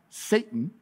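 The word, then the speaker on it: שטן: character is called satan in the hebrew that's pronounced satan this is actually one of the words that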